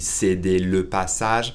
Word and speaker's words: céder: We swallow that E, it's really céder le passage, but we pronounce it céder le passage.